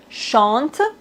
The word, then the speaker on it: chante: Par exemple, chante. Ici, on doit pas prononcer le e final.